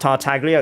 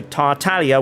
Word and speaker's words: Tartaglia: other one is tartaglia it's not actually pronounced tartaglia it's closer to tartalia with a silent G and again I know